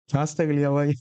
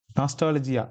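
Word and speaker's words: nostalgia: நம்ம ஸ்கூல் படிக்கும்போது கப்பல்லாம் மடித்து வச்சுருப்போம்ல, அது என்னது நாஸ்டாகலியாவா அது தெரியல எப்படி ப்ரொனவுன்ஸ் பண்ணுறதுன்னு. நாஸ்டாலஜியா, கரெக்ட், அதுதான்.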